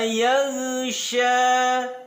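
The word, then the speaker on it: يَغْشَىٰ: Hati-hati dalam pelafalan huruf ghain yang sukun, bukan yaghsha. Yang betul adalah yag. Jangan sampai huruf ghain yang sukun ini memantul, karena huruf ghain sukun ini bukan bagian dari huruf-huruf yang memantul.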